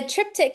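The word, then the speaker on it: triptych: So a trip a tptic in it is spelled kind of strange. So it's t r i p t y c h.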